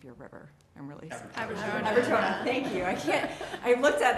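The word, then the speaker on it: Aberjona: It's like one of those towns that people, and I don't know how to pronounce the name of your river. I'm really sorry. Abertona.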